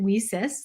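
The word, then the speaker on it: WiCyS: and we pronounce it we cis like we sisters because that's exactly what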